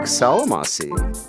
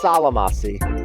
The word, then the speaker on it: Solymossy: Yeah, Salamasi. or if you pronounce it the way it's actually supposed to be pronounced, shyki. But oh, salamasi is how I do it.